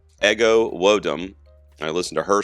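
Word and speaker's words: Ego Nwodim: It's pronounced Ego Wodum.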